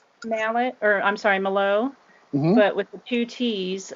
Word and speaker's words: Malott: mallet or i'm sorry melo but with the two t's i've just always been told um it's pronounced malat and it's just like saying just like a lot more lot a lot more